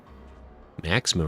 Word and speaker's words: Maxima: Maxima rhymes with handsoma.